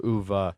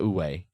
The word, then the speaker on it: Uwe: typically in the older UVA worker place. UVA worker. I'm sure one is correct. I'm pretty sure it's not Uwe. No? No, that's a very common American No, mispronunciation. yes, ooh-wee.